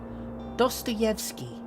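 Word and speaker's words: Dostoevsky: I actually know how to pronounce that. DSTOVski.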